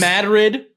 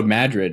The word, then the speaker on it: Madrid: like that there's uh Beatrice Madrid oh Madrid instead of Madrid no it's Matt it's Madrid Madrid it's like but you